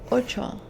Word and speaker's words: ocho: Ocho. 8. Ocho. That is right. O-C-H-O. O-cho. Ocho. That's really good. Your pronunciation is actually pretty impressive.